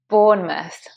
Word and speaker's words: Bournemouth: Now, please be careful not to say Bournemouth, because although it looks like that, it's not that. That mouth becomes a muth. Bournemouth. Bournemouth. So it's just born and you forget the E, it's silent. Muth.